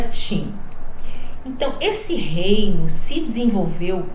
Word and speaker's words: Qin: o reino de ti que a gente escreve Queen mas se pronuncia TIM então esse reino se